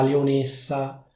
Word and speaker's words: leonessa: A dire il vero, la pronuncia ufficiale di questo suffisso sarebbe essa con la e chiusa, ma dove vivo io si dice essa con la e aperta. Puoi dire come vuoi, puoi dire la leonessa oppure la leonessa.